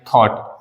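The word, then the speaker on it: thought: मतलब होता है विचार लेकिन इसमें जो जीएच होता है वो हमारा बिल्कुल साइलेंट होता है टी का प्रोनंसिएशन निकलता है थॉट थॉट का मतलब क्या हो जाएगा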